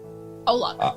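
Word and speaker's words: Au Lac: It was a vegan restaurant in downtown LA called Owl Lock, or how do you say it? Owl Lock.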